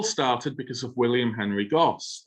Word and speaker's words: Goss: Now, this all started because of William Henry Gosse, or Gosse as it's alternatively pronounced, who founded his company to produce a wide range of ceramic output.